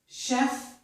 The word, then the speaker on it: chef: Here we have words with the letters CH, which make the sh sound. This is charade, chef, Chicago, machine, mustache, and brochure.